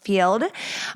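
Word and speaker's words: Feeld: download the field app spelled Fe l d pronounced field on the Apple App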